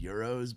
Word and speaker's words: gyro: It's spelled Gyro. Hero. So I've heard people say, I grew up saying gyros, but then I was corrected to say euros, but I still say gyros sometimes. It kind of depends on